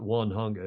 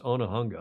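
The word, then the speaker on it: Onehunga: I pronouncing that right it's not one hunga it's onah hunga I think think the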